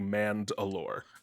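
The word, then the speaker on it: Mand'alor: the tribes of mandalorians is called the manned allure okay we got apostrophe between the two syllables really yes that's not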